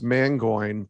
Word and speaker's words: Mangione: say my name well my wife's maiden name is pronounced mangoing but it's spelled mangione and so when i first met her i'm like and she's like no it's mango and i'm like that